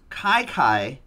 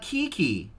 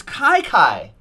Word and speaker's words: Chi Chi: colors nickname which is pronounced Chi Chi and not Kiki its Chi Chi it says back at